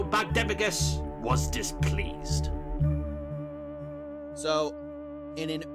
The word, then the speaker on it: Bagdemagus: No, we were both wrong, because it's pronounced Bagdemagus.